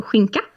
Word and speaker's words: skinka: So we can use the example skinka. Ah, that's something we've spoken about in our Coffee Break Swedish lessons. Skinka, so ham.